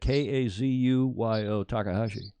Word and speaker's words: Kazuyo Takahashi: Kazuyo Takahashi.